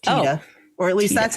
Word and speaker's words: Tiede: So his last name is spelled Tiede, but it's pronounced Tiede.